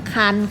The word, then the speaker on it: ครรภ์: ว่า สวรรค์ ตั้ง คอ ควาย รอ หัน ตั้ง ครรภ์ ค่ะ เรา มา ฝึก อ่าน คำ ที่